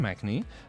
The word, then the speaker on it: Machnee: Today we're going to be talking with Jonathan Machnee. I think I pronounced that correct.